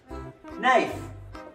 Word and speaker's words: knife: Knife, the K is silent.